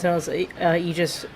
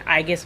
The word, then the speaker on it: Aegis: We're back with more 13 Sent Eegis Rim. I keep saying Igus, but apparently it's Eegis. Eegis rim. I guess the A is silent.